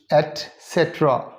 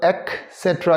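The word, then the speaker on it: et cetera: Dancers या फिर singers, एटसेट्रा, okay. ईटीसी जो है इसे फर्स्ट ऑफ ऑल इसे ईटीसी कभी नहीं पढ़ते, और ना इसको एक्सेट्रा कहते हैं, यानी काफ साउंड नहीं है उसमें।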